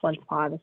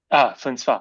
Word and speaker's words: Flinspatch: Hi, and it's pronounced Flintspaw. The CH is silent. Flinspa.